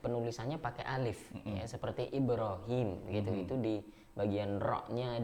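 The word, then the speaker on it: إبراهيم: Ya, Ibrahim itu tidak, walaupun kita bacanya tetap Ibrahim, panjang kan? Tapi alifnya itu nggak ada.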